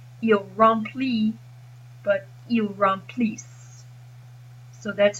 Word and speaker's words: remplissent: Same thing here with pronunciation. Il remplit, but ils remplissent.